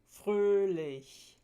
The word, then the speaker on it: fröhlich: The tense umlauts tend to occur in open, stressed syllables. Open syllables means syllables that end in vowels. So some examples are Mühe, Käse, fröhlich. The lax umlauts tend to